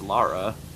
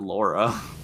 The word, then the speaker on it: Lara: There's no U in her name. It's Lara. Yeah, it's Lara Croft. It's not Laura. It's Lauren. Lara.